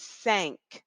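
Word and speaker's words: cinq: now in French the number four five is sank sank sank if it helps you you can think about the word sank like I sank my battleship you can think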